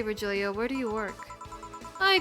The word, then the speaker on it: Virgilio: Look, winded, Virgilia. It's pronounced Virgilio. No, I'm pretty sure it's Virgilio.